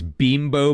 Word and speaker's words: Bimbo: Philadelphia Union it's it's Bimbo Bakeries but it's spelled b i m boo so it's bimbo it just makes me